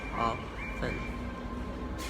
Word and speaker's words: often: And then this, most people say this often with a T, but the right one is, we don't say the T, it's silent. So often.